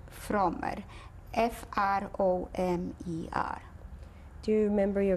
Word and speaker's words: Fromer: Fromer, F-R-O-M-E-R.